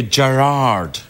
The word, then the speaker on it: Gerard: In Scotland, it's Gerard. Gerard. It's like that. It's, yeah, Gerard. Gerard. It's the emphasis on the first part, but here in America, it's Gerard, and it goes Gerard.